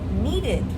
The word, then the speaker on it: needed: And then we have needed. Well, that's different. That's the it sound.